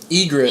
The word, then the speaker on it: Ygritte: Ygritte. Egret. Egret. Egret. I keep pronouncing the Y. Egret. It's just Egret. Egret. It's like the bird.